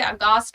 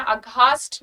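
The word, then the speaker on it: aghast: कई लोग इसे अघास्ट पढ़ेंगे, कुछ लोग इसे अगास्ट पढ़ेंगे, तो ध्यान देना, इसका प्रोनाउंसिएशन ध्यान देना. अघास्ट नहीं पढ़ोगे, अगास्ट. देखो अगास्ट, प्रोनाउंसिएशन थोड़ा सा ध्यान दो. अगास्ट नहीं बोलोगे, अगास्ट.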